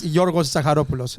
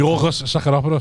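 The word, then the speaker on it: Γιώργος Ζαχαρόπουλος: Yeah, Georgios Zakharopoulos. Look, the Greek thing is Yorgos Zakharopoulos. That's his name. Yorgos Zakharopoulos.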